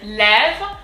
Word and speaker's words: lève: Le jour, ce, and then lève. So here it's fairly easy. We've already seen this accent. It's called the accent grave and it's pronounced E, lève.